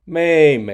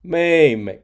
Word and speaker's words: 妹妹: The pronunciation of 妹妹 is like the first syllable of "merry."